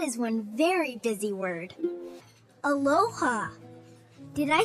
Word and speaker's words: Aloha: Aloha.